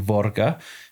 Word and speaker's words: Våga: So var or as it's pronounced properly would be vora means to dare to venture to risk.